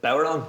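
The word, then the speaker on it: bodhrán: We're coming back, and remember, there's a Baran or a Bowron. How do you say it? Bowron, yeah.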